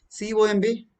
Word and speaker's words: comb: C is sounds as ka here. The spelling is C. B silent here. It is comb. It's not comb. It is comb. Comb. No B there. B is totally say MB cluster. At the end of the word, whenever there is MB cluster, loss B is not pronounced.